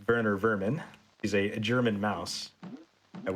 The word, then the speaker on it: Werner Werman: Coming up, we are going to be facing against Werner Werman, or I guess I pronounce it Werner Vermin.